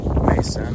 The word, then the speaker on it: Macon: It's pronounced Mason or Macon. It's pronounced Mason or Macon. Oh, Either way. so it's got 2 pronunciations. Yeah. Bayou Mason or Bayou Macon.